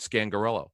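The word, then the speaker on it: Scangarello: know what it is because people have problems pronouncing his name that was it scan gorilla scan gorilla yeah fridge comes out if he's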